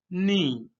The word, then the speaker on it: knee: तो घुटने को इंग्लिश में क्या कहते हैं? नी। KNEE, नी। तो जब के और एन इकट्ठे आ जाएंगे तो फिर के को नहीं पढ़ते, ये साइलेंट है।